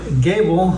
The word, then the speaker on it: Goebel: Yeah, I've been called Gobble all my life and I respond to it. But yeah, somehow the the German pronunciation is like a long a or g would have been gerbble or whatever. So gable sounds better than gerbble, right?